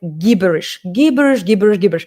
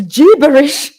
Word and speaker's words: gibberish: When we pronounce some indistinct phrase, you say gibberish, and I always pronounce it like gibberish. And she said to me, Katya, it's gibberish.